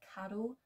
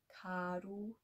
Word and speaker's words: carw: be more familiar with another word for deer, carw, carw.